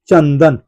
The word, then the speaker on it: चंदन: रहा है मेरे भाई, अनुस्वार का उच्चारण यहाँ पे हो रहा है न। क्या हो रहा है? न। न क्यों हो रहा है? क्योंकि यहाँ पे देखिए, ये अनुस्वार के बाद क्या है? द, और द जो होता है त